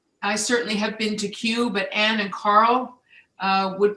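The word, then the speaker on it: Kew: certainly have been to queue but ann and carl would put their hand up in a vote for the sparklings at queue they do absolutely terrific job q is spelled k-e-w if you're looking for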